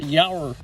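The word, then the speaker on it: Yowr: How do you pronounce that? Yower.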